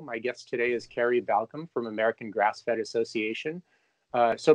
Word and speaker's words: Balkcom: And just to clarify, it's Balkcom, not Balkcom. Oh, okay. It's like Balkcom. Always like, pronouncing people's names is always the toughest part for me in the beginning. You know, it's like Baldwin.